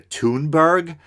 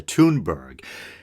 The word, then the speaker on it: Thunberg: he's going after Greta is a toon burg I that's how I heard Mike Figueroa from the from the humanist report pronounce it toon burg the young Swedish girl